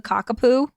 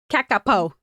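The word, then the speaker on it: kakapo: I guess you can call it a cockao, but it's k a k a p o. Oh, not cactapo.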